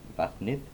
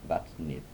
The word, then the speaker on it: vatnið: The difference comes when you are pronouncing words like vatnið, where you have the definite article.